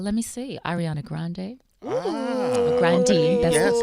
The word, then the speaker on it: Grande: Grande. That's correct pronunciation.